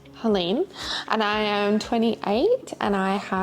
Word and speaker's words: Helene: My name is Helene, pronounced Helene, and I am 28 and I have endo, adeno, PCOS, IBS and GERD.